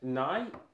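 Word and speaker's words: nei: Nay? Nay. N-E-I. How should I say it and sound? N-E-I. Yeah, how do I pronounce it? Nay. Nay. Okay, nay like the horses. Nay. Nay. In Norwegian.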